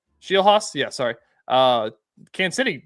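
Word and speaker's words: Scheelhaase: Nate Shieldhouse, the guy that was Is that how to say it? Is that how you say that name? I don't know how to say Shilhos.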